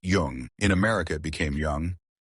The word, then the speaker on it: Jung: Jung and it is already pronounced Jung.